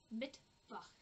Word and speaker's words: Mittwoch: Remember that the W in German is said like a V in English. So this is Mittwoch.